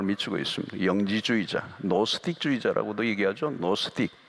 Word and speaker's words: 노스틱: 노스틱, 발음을 하면 노스틱이에요.